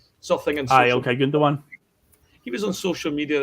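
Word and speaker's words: Gündoğan: It's funny, I saw a thing with, was it Grundogan, how you say his name? Something in Aye, social. okay, Gundogan.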